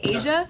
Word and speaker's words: Asia: So you guys know Asia? Asia? Well, that's how her name is spelled, but it's pronounced. No, it's Asia. Okay, Asia.